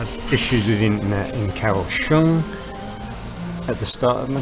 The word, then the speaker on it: Kaohsiung: Yeah, I had issues with internet in Kaohsiung at the start of my trip, or Kaohsiung as they pronounce it.